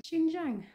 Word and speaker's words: Xinjiang: call it xinjiang I should have looked about pronunciation before I started filming hang on xinjiang apparently um so the author uses that name